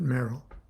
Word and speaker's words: Meral: her magical Persona was Sor merel m e r a l and we pronounced it Merl and um I can't